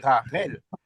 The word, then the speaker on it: Rachel: Alors comme Ram s'échappe par on dit Rachel mais on doit pas dire Rachel, on doit dire Rarel. Le CH c'est Rel.